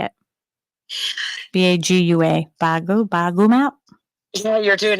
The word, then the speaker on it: Bagua: Bagua, Bagu map?